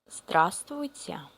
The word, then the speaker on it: Здравствуйте: And by the way, this part of the word, I mean in the middle, we don't pronounce. We don't pronounce vs. We just say, we skip it. We just skip it.